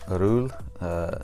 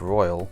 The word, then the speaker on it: Roel: It's Roel. Looks like Royal, but I think it's pronounced Roel, something like that.